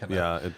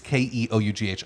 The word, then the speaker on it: Keough: I saw Knuff. Which It is, looks like Knuff. Yeah. It's Keough.